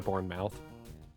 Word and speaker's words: Bournemouth: Is it is it Bournemouth as opposed to born mouth? You're Brits in your funny ways of saying things like Worersher. Your second pronunciation was correct.